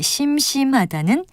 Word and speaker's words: 심심하다: 그리고 참고로 우리 고유어의 심심하다는 달리 한자어인 심심하다는 첫 음절을 길게 발음합니다.